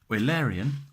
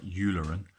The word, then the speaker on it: Eulerian: Eulerian, I know it looks like Eulerian, but it's pronounced Eulerian.